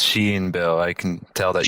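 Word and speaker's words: Shein: at a fast fashion they are and it's pronounced Sheen bill I can tell that you haven't been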